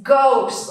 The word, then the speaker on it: ghost: Because the H comes after C, so it's not pronounced, it's silent. Here, it's not ghost or arno, how would you say that? It's ghost, okay?